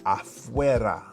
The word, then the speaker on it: afuera: Afuera.